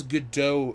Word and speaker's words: Godot: See, the thing is, I thought it was Godot as well, but then I've heard it's Godot because she's not... Godot would be the French pronunciation.